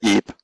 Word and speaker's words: EEP: We do pronounce it EEP. EEP, that's the name.